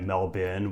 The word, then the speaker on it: Melbourne: Yes, I'm talking about Melbourne, Australia, and I will be pronouncing it Melbourne, which I'm assured is the correct pronunciation.